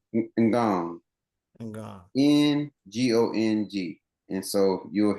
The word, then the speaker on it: Ngong: And I know you said, is it, how you pronounce it again? Is it Guan? Gong. Ngong.